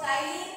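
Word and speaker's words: ptyalin: और सलाइवा में इसमें एंजाइम है दैट इज अमाइलेज, और इसको टाइलिन भी कहते हैं, TTYLINE. हाँ, P साइलेंट, टाइलिन या सलाइवरी अमाइलेज और टाइलिन.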